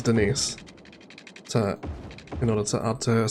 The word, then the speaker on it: Denise: for the town of Denise, or Denis as she tells people is how it's pronounced, which of course it isn't. It's pronounced as Denise.